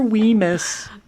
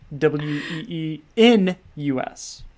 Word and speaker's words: weenus: just your elbow but I used to think it was we must so it's say I touched your we miss but it's we n us not m n as a Nancy how